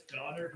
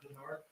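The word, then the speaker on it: Donnard: all right thank you it's it's donard not Berard donard I need to apologize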